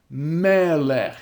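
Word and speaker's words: מֶלֶךְ: So for example, we have the word melech. And notice the accent is now on the syllable before the e. Melech.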